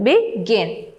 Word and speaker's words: begin: Then the next word is begin. The stress is on the second syllable, begin.